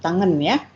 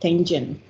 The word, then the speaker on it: tangent: like approach, approaches, and then tangent, tangent line, not tangan, but tangent line, second line, sign, sin itu sign bahasa Inggrisnya, sign.